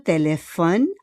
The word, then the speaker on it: téléphones: Tu téléphones à ta mère tous les soirs. Tu téléphones à ta mère tous les soirs. May S po yun, il y a un S, but we don't pronounce le S, okay?